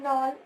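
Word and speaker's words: Knoll: अब इलेक्ट्रॉनिक सूक्ष्मदर्शी, इसको क्या होता है, इसकी जो खोज की थी नॉल, ये के जो होता है साइलेंट होता है, नॉल एंड रस्का ने, ठीक है।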